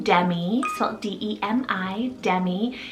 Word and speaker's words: Demi: light for number 28 i have the name demi salt d-e-m-i demi it's a latin rooted meaning